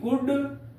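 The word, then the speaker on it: could: हैं डी याद रखिएगा डी के पहले एल आए तो एल का उच्चारण नहीं करेंगे जैसे सी ओ यू एल डी कुड शुड वुड इत्यादि एम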